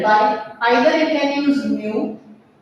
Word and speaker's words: mu: Pronunciation is mu.